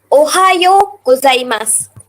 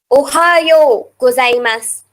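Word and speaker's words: おはようございます: The yo at the end of Ohio is prolongated by the U. Ohayo gozaimasu.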